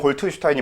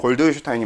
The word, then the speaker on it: 골트슈타인: 톰슨 이전이었던 거 맞는 것 같은데 여기가 골트슈타인이라고 하는 사람이 골드슈타인이라고 부르기도 하는데 독일식 발음으로는 골트슈타인이 맞고요. 근데 영어식 발음으로는 골드슈타인이 맞아서 아무튼 이렇게 쓰이는데 이 사람은 양극선 실험이라는 걸 해요.